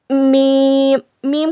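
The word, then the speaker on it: ميم: ला ला लाम के बाद देखिए आता है मीम मी। मीम का क्या मखरज है? दोनों होठों के सूखे हिस्से से मीम अदा होता है। इट is pronounced from the ड्राई पॉट of your lips.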